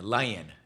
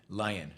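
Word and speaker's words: Leyen: Um, anyway, uh, I'm told it is pronounced le len. Lion. Lion.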